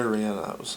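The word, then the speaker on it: relleno: to eat a lot is I like Chile Renos it's re e l l e n o I believe that's how that's spelled it's pronounced Reno um those of you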